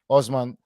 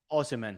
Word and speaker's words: Osimhen: injured at the moment, Usman. And is it Usman? Osimhen. Yeah, Osimhen. I forgot the men at the end.